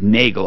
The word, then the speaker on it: Nagle: yeah and he is his name spells more like Nigel or Nigel but his hey he pronounces it Nagle I believe when he called you this morning Suzanne he said he is Kevin Nagle right that's correct Tom